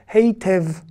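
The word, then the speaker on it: היטב: Donc, les Israéliens, un peu à la Yiddish, prononcent le yud, même parfois quand il n'a pas de voyelle. On avait dit, quand on n'a pas de voyelle, en dessous le yud, il ne se prononce pas. Mais là, oui, quand c'est un e et qu'il est au milieu d'un mot, on va le prononcer.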